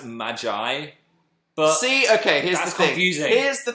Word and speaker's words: Magi: it in Japanese so I suppose referring to the show as Maggie is valid because that's how they pronounce it in Japan but in the English dub they might be like hey Magi come over here we don't